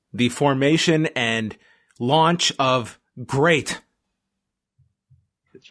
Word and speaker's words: GLEAT: so if you see it and you say gleat it's it's not great it's it's great it's a little confusing i don't know if